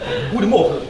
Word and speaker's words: goedemorgen: Nah, bacanya goedemorgen.